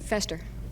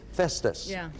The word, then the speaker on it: Festus: for the game Pat Fester no Noe f it it has to be Liz just said the right the right pronunciation Festus fester and Festus there's often I was